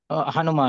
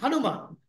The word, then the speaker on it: Hanuman: Son of V who is son of V Hanan louder yeah Hanuman so one day so my namaskaram my prostrations